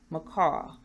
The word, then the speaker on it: Macall: Macall like the bird, but it's spelled differently.